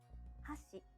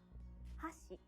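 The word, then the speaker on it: 箸: hear the difference again hashi chopsticks hashi bridge in japanese each syllable is basically pronounced with a high or low pitch and each japanese bird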